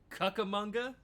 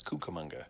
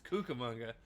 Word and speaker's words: Cucamonga: Um, when he did announce them, he said that they were from Kakamonga, which is not how it's not how it's pronounced. No, it's Cucamonga. It's Cucamonga.